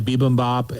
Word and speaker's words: bibimbap: bibimbap. She was saying, like a P bibimbap. instead of a B.